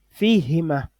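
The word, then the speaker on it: فيهما: Au niveau de ces trois pronoms, lorsqu'ils sont suivis de fi, on ne va pas prononcer le hu. On ne prononcera pas le hu. Le hu va changer en yani, en i.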